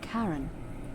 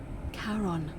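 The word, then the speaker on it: Charon: with a coin it's just as only your pronunciation is a little off the name you heard wasn't Karen it was c h a r o n as in Kon the Fairman of the dead I'm dead Kon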